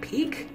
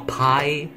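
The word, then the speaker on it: Pieck: this up, and apparently, her name is pronounced Peak. What the? I don't like that. It just sounds perverted. Look, I saw pie, and I got hungry, and you know, I thought that's how you pronounce it. Okay, I had never seen the word pronounced before.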